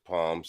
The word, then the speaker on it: Psalms: Y'all call it Psalms, but it's Palms, Psalms, because the P is not pronounced.